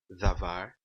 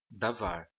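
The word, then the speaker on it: דָּבָר: O dages len, então, ele é utilizado com cada uma dessas letras aqui e ele somente fortalece a pronúncia da letra.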